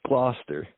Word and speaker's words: Gloucester: mispronouncing it jeff but but is it gloucester glauchester how do you pronounce that city up there in massachusetts that's gloucester gloucester am i saying it right all right